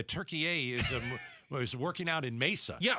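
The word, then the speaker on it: Türkiye: That's how they say it. That's not how I say it. I've been saying it wrong my whole life, so it's Turkey A.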